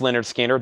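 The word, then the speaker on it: Lynyrd Skynyrd: nugget $9.99 he's going the distance Leonard skinnard pronounced Leonard Skinner that's $9.99 Van Halen 1984 Van Halen $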